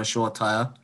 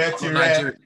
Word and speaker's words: Shoretire: If you're going to say his name, say it correctly, not the... English. I'm not Nigerian, so you tell Shore me. Shoretire. You're Shoretire, not Shortire.